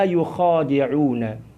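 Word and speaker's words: يخادعون: Adapun cara membaca yang kedua adalah wa ma yukhadi'una. Wa ma yukhadi'una. Jadi ada 2 cara membacanya.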